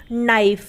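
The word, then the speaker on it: knife: के साइलेंट रहता है जैसे के एन आई एफ ए नाइफ अब यहां पर एन से पहले क्या ए रहा है के ए रहा है इसलिए यहां पर के क्या हो गया साइलेंट हो गया यानी की यहां पर के है तो लेकिन हम उसे बोलेंगे नहीं वो साइलेंट रहेगा इसलिए हम इसे नाइफ बोलते हैं हम का नाइफ तो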